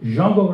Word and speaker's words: Django: But anyway, Stefan Grappelli and Django, that's the correct pronunciation, Django Reinhardt, picked it up, and they had a recording with High Club of France.